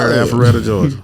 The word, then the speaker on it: Alpharetta: Huntsville, Mesquite, Texas, right outside of Dallas, and Alpharetta, Georgia.